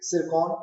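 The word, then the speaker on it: Tsirkon: ठीक है, सिरकॉन, T silent है, सिरकॉन हाइपरसोनिक क्रूज मिसाइल है, कहां से लॉन्च की गई है?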